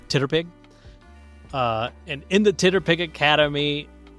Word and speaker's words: TTRPG: Titterpig, because if you take TTRPG and you phonetically sound it out, it's Titterpig.